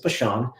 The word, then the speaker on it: Bachand: fascinating i'm excited to introduce you to brian bashan and uh his name can look and and i guess be pronounced a number of ways but the proper pronunciation is bashon would you help me welcome brian to the